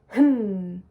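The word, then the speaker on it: hem: If you see that in your music, we're going to pronounce it hmm. So we're going to go straight to the M, but put a giant H on the beginning.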